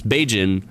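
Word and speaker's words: Bajan: we wanted so uh b-a-j-a-n i guess it's a little bit cut off on my screen uh is kind of pronounced like cajun so it's beijing and that is kind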